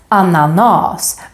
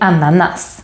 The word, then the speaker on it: ananas: the word ananas because if it would have followed the one consonant rule this would be pronounced as ananas but it's not we say ananas so it breaks the